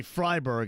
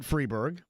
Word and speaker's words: Freiberg: David Freeberg, or maybe Freiberg in this case, I pronounce it Freeberg, is the only remaining co-founding member.